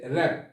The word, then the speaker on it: wrap: তারপর হচ্ছে র্যাপ। র্যাপ, এখানেও ডাব্লিউ উচ্চারণ হয়নি।